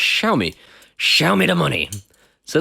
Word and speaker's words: Xiaomi: This is supposedly the equivalent of Samsung's SmartThings Hub, but it's made by a company called Xiaomi.